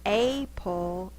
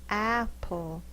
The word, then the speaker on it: apple: The word's not a-pull, it's apple.